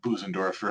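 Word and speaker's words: Bösendorfer: And this is Bosendorfer, by the way, Busendorfer, that's how you say it in Germany.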